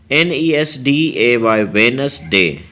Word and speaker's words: Wednesday: तो वेनसडे की ऐसी छुपी हुई स्पेलिंग है कि अक्सर ये स्पेलिंग बहुत लोगों से मिस हो जाती है, क्योंकि इसके अंदर डी खामोश सा है।